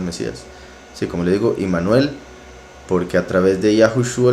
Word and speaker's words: Immanuel: La pronunciación correcta, la verdad, todo indica, es Immanuel, porque Im significa con, Nu es nosotros, Él es poderoso. Entonces, con nosotros el poderoso, Immanuel.